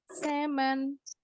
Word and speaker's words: salmon: Nah, bacanya kalau dalam bahasa Inggris bukan salmon atau salmon, tapi L-nya silent.